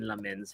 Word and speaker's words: Lammens: So it's like lemon, but not really like lemon. It's like lemon, but you got lemon in your mouth. Lammens.